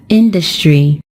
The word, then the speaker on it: industry: is just on the first syllable and we pronounce it as industry when we turn it into an adjective the